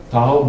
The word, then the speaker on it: Tahoe: heard it Danka Tahoe Tahoe rhymes with Washoe and that's kind of